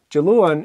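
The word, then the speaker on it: Diluain: So, Jaluan is Monday. Jamarsh, Tuesday. Jakiaten, Wednesday. Okay? And as you just heard, it's a J sound at the beginning.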